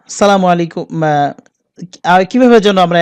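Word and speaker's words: السلام عليكم: আমরা সালামটা কিন্তু সঠিক ভাবে দিতেই পারি না আসসালামু আলাইকুম আর কিভাবে যেন আমরা এ একজন একেক ভাবে বলি আমি সঠিকভাবে ওইভাবে বলতে পারতেছি না তো আপনারা চেষ্টা করবেন সঠিক ভাবে সালামটা দিতে আসসালামু আলাইকুম আপনার উপর শান্তি বর্ষিত হোক সেটাকে যদি আমরা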